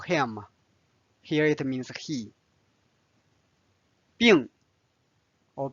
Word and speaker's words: 病: Now let's study 病。病 can be a noun, means disease or illness, or it can be a verb, means to be sick or to be ill. And it's the fourth tone, 病 Now let's read this conversation.